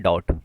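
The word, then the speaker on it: doubt: डॉट जो है डी ओ यू बी टी इसमें बी क्या है? साइलेंट है। तो डॉट को डी ओ यू टी के हिसाब से पढ़ेंगे। I have a डॉट। लेकिन यहां पे बी क्या है? साइलेंट है। तो डॉट का मतलब शक होता है जिसमें बी साइलेंट है।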